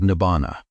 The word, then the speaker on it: nibbāna: This is what the Buddha called nibana.